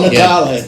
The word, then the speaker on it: Natale: Well, Natale. We were just talking about those names that you can pronounce two different ways, and Yeah.